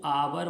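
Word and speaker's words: hour: लगा जरूर है लेकिन उसका प्रनंसीएशन हान नहीं होता है ए होता है तो इसको अवर बोलते हैं साइलेंट रहता है अवर तो अवर में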